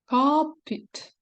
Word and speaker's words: cupboard: be like Po it copit I just paid attention that it's like an automobile and a pet but pronounce differently cop it so this what I